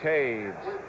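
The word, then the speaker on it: Toews: Lauren Taves made the tackle, number 51. That's spelled T-O-E-W-S.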